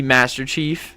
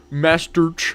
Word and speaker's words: Masterch33F: I mispronounced his name. It's supposed to be Master Chief. I kind of knew that, but I don't know. I just read it like a nerd. Master Ch.